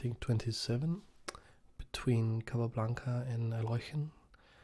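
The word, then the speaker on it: Alekhine: It's just it's a classic opening in the World Championship in, I think, 27 between Capablanca and Alochen. In English it's pronounced Alyekin.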